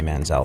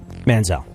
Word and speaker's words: Manziel: would be where I land on the Johnny Manziel thing.